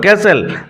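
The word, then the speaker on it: castle: to visit ম্যাগবেস ক্যাসেল উচ্চারণ লক্ষ্য করো ক্যাসেল দুর্গলং থ স ম্যালকম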